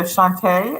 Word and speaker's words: Shantae: So Shantae, I assume, right? A. Do I pronounce the A or is the E silent? No, of course it wouldn't be silent. It'd be Shantae.